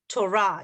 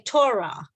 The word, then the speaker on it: Torah: the Torah I mean so in Hebrew we say that the stress is on Torah it's bra we say Torah but it's actually Torah Torah so the Torah is